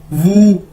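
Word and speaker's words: 五: four चार उसके बाद हमारे पास डब्लू यू व ठीक है व इसको ऐसे प्रोनाउंस करेंगे और मतलब है फाइव यानी पांच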